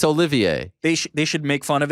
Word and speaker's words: Olivier: who cares if he's pronouncing the name Oliver I mean I love Oliver it's my son's name it's Olivier they should make fun